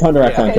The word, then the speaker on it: Hunter x Hunter: Did you see, like, there were chapters of is it Hunter x Hunter, or is it Hunter? It's Hunter x Hunter.